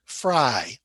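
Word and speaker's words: Frei: which is ik bin fry now f r e i and f r e y the family name are both pronounced fry but ich bin fry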